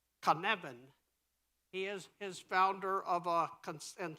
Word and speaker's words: Cynefin: There's one of the tests you have to pass is you have to pronounce his company, and it's Cynefin.